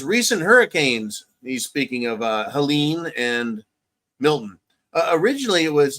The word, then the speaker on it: Helene: He says, recent hurricanes, he's speaking of Helene and Milton. Originally, it was, that's interesting. You've got Helena. It's Helene, and I heard people pronouncing it Helena and Helena. Not Helena, Helena, but it sounds like Helena, and I guess who gives a fuck.